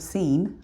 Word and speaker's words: Sin: So in Exodus 17, the Israelites moved on from the wilderness from the wilderness of seen. Although it looks like sin, it's pronounced seen in Hebrew.